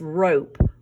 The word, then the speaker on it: rope: The O in this word says its name. The E is silent, remember?